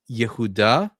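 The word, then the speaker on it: יהודה: So in Hebrew it's pronounced Yehuda.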